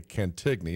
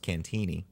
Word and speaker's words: Cantigny: book is first over there the attack on cantigny America's first battle of World War one all